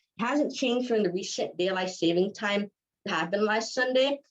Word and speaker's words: Daylight Saving Time: lot longer fun fact most people pronounce it as daylight savings time but it's not actually correct it's pronounced as daylight saving time um saving time because